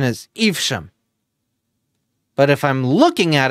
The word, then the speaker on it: Evesham: And my character was in a town in Mercia called, the correct pronunciation is Evesham. But if I'm looking at it, I'm like, Evesham or Evesham. No, it's Evesham.